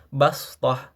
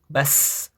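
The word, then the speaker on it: بصطة: Tetapi dalam ayat ini kita wajib membacanya dengan huruf sin ya sebagaimana yang ee apa ada di riwayat Hafz ya. Jadi cara membacanya itu bukan basth, tapi dengan sin bash fil khalqi basah bukan fil khalqi basth, bukan tetapi fil khalqi bash.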